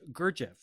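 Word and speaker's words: Gurdjieff: songs based on the Russian Armenian Mystic George GFF is am I pronouncing his name correctly that's correct that's right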